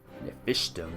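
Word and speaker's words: Napishtim: Nephishtim, that's how you pronounce it.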